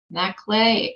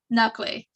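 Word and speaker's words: Nakhleh: today our next two speakers will be Julia Matt clay and Dan Bacall IA I'm sure I said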